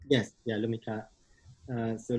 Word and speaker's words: Lumikhâ: And that's the more recent show in January called the Laka—sorry, excuse my pronunciation—Lumikhâ. Is that correct? CT: Yes. Yeah, Lumikhâ. So “lumikhâ” means “to create” in Filipino.